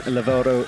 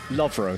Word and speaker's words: Lovro: And then Lavoro is up into the underclings. Lovro, sorry, I said Lavoro. I'm just making up syllables there.